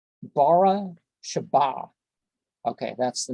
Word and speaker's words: Beersheba: Bara Sheba.